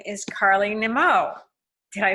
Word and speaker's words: Nimmo: And so today I get to bring to you an Australian woman, and her name is Carly Nimmo. Did I say it right? Nimmo.